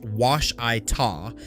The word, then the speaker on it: Ouachita: Ouachita is pronounced Washita and Cimarron is Cimarron. Both regularly butchered by outsiders reading a map cold.